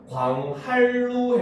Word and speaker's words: 광한루: 광한루인데 발음하면 광할루 해가지고 니은이 리을로 변해서 소리 나는 이런 모습들, 이건 전부 다 유마다라고 볼 수 있어요.